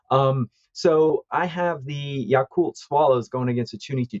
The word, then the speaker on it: Yakult: edition of the show pronunciation is spot on it's yakult swallows and chunichi dragons so very nice good